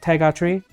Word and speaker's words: t'es gratuit: T'es gratuit? That's okay. It's like Tiger Knee.